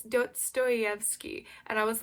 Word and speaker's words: Dostoevsky: I couldn't say Dostoevsky. I'm pretty sure that's how you say it. My dad, I was like saying this to my dad after, and he was like, it's Dostoevsky.